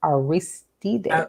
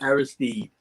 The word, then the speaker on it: Aristide: Haitian former president, um, and I'm going to pronounce this, John Bertrand Aristide? Aristide, Aristide.